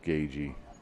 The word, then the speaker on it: Gagyi: It's Gagyi, and I was told yesterday it is pronounced Gagey.